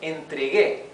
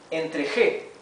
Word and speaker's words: entregué: Instead of entregué, it would read entregué because the G followed by an E changes its pronunciation, right? So we need to add the U for it to sound entregué and to have the same sound as it has in the infinitive, the G, g, right?